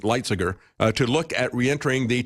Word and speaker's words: Lighthizer: Trade Representative Robert Lighthizer, I guess is the way he pronounces it, Lighthizer, to look at reentering the TPP negotiations.